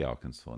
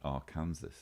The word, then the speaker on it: Arkansas: got uh arkansas represented i know how to say arkansas now i once made the terrible mistake of pronouncing it our kansas and have been ridiculed